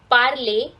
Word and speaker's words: parlent: So it is je parle, tu parles, il parle, elle parle, nous parlons, vous parlez, il parle, written as parlent for the knave, but it is pronounced as parle, elle parle.